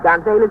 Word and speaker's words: Gonzalez: Yes, I pronounce it Gonzalez. I'm not Spanish, you see.